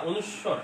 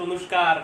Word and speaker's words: অনুস্বার: এই যে দেখেন অনুস্বারটা, অনুস্বর, এটা উচ্চারণটা দেখেন, উচ্চারণটাও পরীক্ষা আসে। এটা উচ্চারণ হচ্ছে অনুস্বর, অনুসরণী, অনুস্বর। অনেকে আমরা ছোটকাল থেকে আমাদের পড়াইছে অনুষ্কার, বিসর্গ, চন্দ্রবিন্দু।